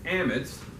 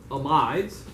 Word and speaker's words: amides: going to look at amits or amides however you want to pronounce and we're going to